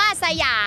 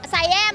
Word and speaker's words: สยาม: มัน ร้อง ว่า สยาม เออ แต่ ว่า ฝรั่ง เวลา เ้า ออก เสียง เ หรอก ไซแย้ม ป่ะ เออ มัน ออก เสียง ว่า ไซแย้ม อ่ะ เรา ก็ เลย ต้อง